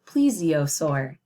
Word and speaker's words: plesiosaur: plesiosaur and you see it took me a couple times to pronounce it but that's okay when we have new word sometimes it takes a little while here it breaks it down how I say it so this says please Z uh soar please z